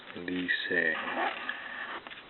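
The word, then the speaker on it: école: and find out lisa it's pronounced lisa french for school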